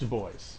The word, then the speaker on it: Du Bois: It is pronounced Du Bois, yes.